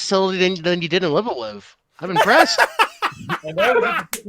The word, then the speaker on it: Live A Live: Yes, it has been a while since Live Alive. Yes, that's how it's pronounced, Noel.